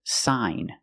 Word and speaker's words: sign: So, we see when you have gn at the end of the word, the g is silent, too. The pronunciation is sign. And you have the long i sound like hi and like.